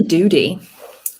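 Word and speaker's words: Wongdoody: an agile coach at wong dodi i hope i've pronounced that right aaron it's actually doody all right yeah i'm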